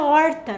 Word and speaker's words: horta: porta é a palavra horta né então palavra horta se escreve com h o que que nós sabemos a palavra da letra a letra da na língua portuguesa não tem som então não posso colocar